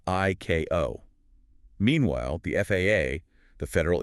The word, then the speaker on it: ICAO: It explicitly commands that ICAO, that's the International Civil Aviation Organization, the UN agency that sets these global standards, must be pronounced phonetically as ICAO.